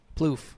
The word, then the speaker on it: Plouffe: Plouffe. I knew it. Yeah. It's spelled like it sounds. Apparently the second, well, no, it's not. But the second time they ever saw each other, Ploff.